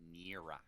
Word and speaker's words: Nira: Taco Technico, how do you pronounce the name? Nira.